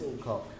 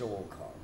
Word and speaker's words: Alcock: No, Alcock, the film censor said, "I'll allow the actor who says Miss Alcock the permission to do it, but he mustn't emphasize either the first or the second syllable."